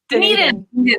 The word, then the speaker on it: Dunedin: Dunedin.